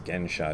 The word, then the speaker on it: Gensha: Shohaku Okumura, who I also respect a great deal, translates Xuansha, which is the same as Gensha, it's just the way you pronounce it in Chinese.